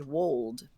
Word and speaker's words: would: think I agree also these words should and would they used to rhyme with gold and told so it was schold and Wold whoa whoa who okay